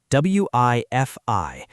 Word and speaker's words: Wi-Fi: But in English, we pronounce both letters like the word I.